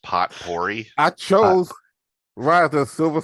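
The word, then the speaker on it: potpourri: um add something into the poper um it's pronounced pot pory I chose rather the silver Sur as one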